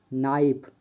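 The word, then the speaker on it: knife: जी H silent है के silent N के पहले आया हुआ के प्राया साइलेंट होता है जैसे नी नाइफ नॉलेज नॉट इन सभी वर्ड में के साइलेंट है एल साइलेंट डी एफ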